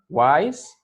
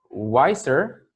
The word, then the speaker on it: wise: good how about here wise wiser the wisest now remember this has only one syllable why wine because remember that the e is mute is silent so we don't say